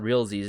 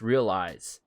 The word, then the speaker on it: REALIEZ: It's not REALZs, it's REALIEZ. And what's cool about it, it's spelled out as real and then IEZ, which is cool because it's sort of a play on words with realize, right? It's realize.